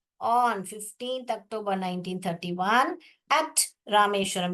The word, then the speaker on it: रामेश्वरम: बताना है, इसलिए एट रामेश्वरम। कौन सा था? रामेश, मैंने बताया था स्पेलिंग कैसे पढ़ने का। रा पढ़िए और मेष व रम, रामेश्वरम।